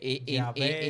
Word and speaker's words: Yahweh: a la YHWH y por eso se escribe Yahweh, Yahvé. Y no es W.